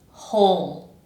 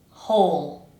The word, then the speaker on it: whole: And finally, we have whole. Whole. Regardless of that W that's doing who knows what there.